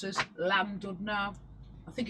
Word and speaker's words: Llandudno: The double L, I think it's pronounced with as a C, I think. So, like, such as, there's a place that I would pronounce as Llandudno.